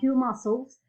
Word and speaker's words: muscles: Edward have a huge muscles because he spends so much time working out. So the muscles, is the same rule, You don't cannot pronounce the C, okay?